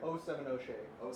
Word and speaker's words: 070 Shake: Like 070 Shake.